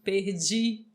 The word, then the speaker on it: Perdi: falou aqui desse pedir vende Perdi né sempre com esse sonzinho aí do Didi exatamente muito bem pessoal